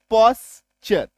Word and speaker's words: posture: POSTURE, टी के बाद URE, पॉस्चर। Clear हुआ। टी के बाद जैसे ही URE आ जाए तो आपको समझ लेना है कि यहां पे टी का उच्चारण च होगा, माय डियर फ्रेंड, है ना।